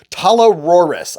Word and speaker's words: Talarurus: not the vased torus the Tora talar Rus I yep that's how you say it the the I'm going